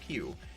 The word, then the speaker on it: PewDiePie: I guess it's spelled P-E-W, like Pew.